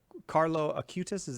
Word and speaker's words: Carlo Acutis: Carlo Acutis, did I say his name?